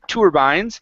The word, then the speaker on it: turbines: say to okay it's it's usually going to be tur okay like an ER sound okay so instead of T turbines it's tur turbines okay durbins okay very